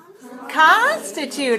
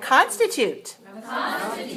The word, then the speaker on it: constitute: for the people who constitute it all right let's say the word constitute three one look at me and show